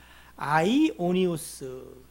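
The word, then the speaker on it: αἰώνιος: 그래서 영이라고 하는 것은 여러분이 생각한 영육이 아니라 아이오니우스. 한번 따라해 봅시다. 아이오니우스. 시작. 에이, 뭐 발음은 뭐 오스 우스 똑같아요.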